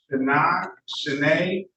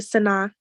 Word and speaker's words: Shanae: City of Detroit versus Shanae. Did I get the correct pronunciation there, ma'am? It's Sana. Sana.